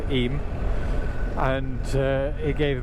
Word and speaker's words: Eyam: he rode through the village of iam pronounced eem and uh it gave